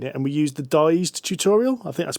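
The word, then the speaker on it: Dized: We started playing it and we used the dyed tutorial. I think that's pronounced.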